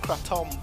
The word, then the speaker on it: kratom: It's actually pronounced kratom, but it's not illegal in Spain.